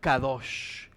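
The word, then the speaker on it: קדש: como Santidad en hebreo se escribe q d s y se pronuncia kados que literalmente significa brillo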